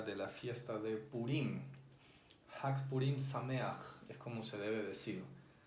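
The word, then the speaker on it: חג פורים שמח: Hag Purim Sameach. No se dice Hag Sameach Purim, porque hay algunas personas que, bueno, sí están aprendiendo hebreo, pero a veces cometen ese error.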